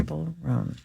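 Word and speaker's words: Chappell Roan: I think it's Chapel. Is it really? Yeah. Chapel Oh, okay. Roan. I believe that's right, Chappell. like Dave two L's. Chappelle. Yeah, that's how it's spelled. But Chapel. and then Chapel Roan, Roan.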